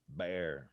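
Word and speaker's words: Bexar: mean they're behind the curve already mahaya b-e-x-a-r bear yes how do you say the name of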